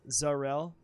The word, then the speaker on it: Zarel: Zarel pronounced like Darrell, Zarel.